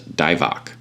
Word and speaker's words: Dybbuk: specific demon a demon in hebrew which is pronounced as divak or sometimes spelled daibok but d-i-v-o-c what does that spell backwards oh yes the great plague of our time so dibach as trans described in hebrew means possession by